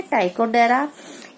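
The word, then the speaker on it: Ptychodera: और ग्लोसोबेलेनस, टाइकोडेरा, यहाँ पर पी साइलेंट है तो हम इसको क्या कहेंगे? टाइकोडेरा. स्पेंजीलिया.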